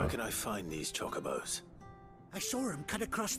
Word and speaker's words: Chocobo: Chocobos? You heard me right. Wild birds? Hmm? The big ones? I always pronounced it chocobo. Not just any chocobos at that. It's actually chocobo.